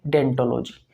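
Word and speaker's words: odontology: शाखा को कहते हैं डेंटो जीी लेकिन इसकी शुरुआत जो होती है वो ओ से होती है ओ यहां पर साइलेंट होता है डेंटो जीी बोलते हैं या डेंटो जीी आप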